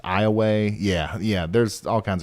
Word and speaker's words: Iowa: a town in Louisiana called Iowa and it's pronounced Iowa yeah yeah there's all kinds of crazy stuff